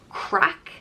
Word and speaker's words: craic: more and let's get started first up is crack and this is probably the main irish word that gets used all the time it means fun gossip or good times it's pronounced crack and people would say oh there was some